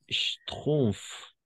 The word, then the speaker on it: Schtroumpfs: les Schtroumpfs.